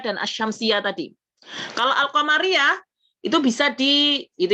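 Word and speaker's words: الشمسية: Al-qamariyah, kemudian ada al-syamsiyah. Asy-syamsiyah, alnya nggak terdengar. Asy-syamsiyah gitu ya, bacanya begitu.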